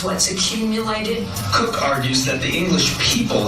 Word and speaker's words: Coke: Edward Cook, even though it looks like it's spelled Coke, is Cock.